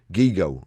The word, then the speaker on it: GIGO: How to pronounce it. Gigo rhymes with ego.